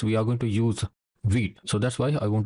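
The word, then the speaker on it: Vite: Okay, so this is how you pronounce vit.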